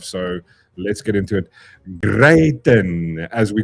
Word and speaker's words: Gayton: It's Gayton.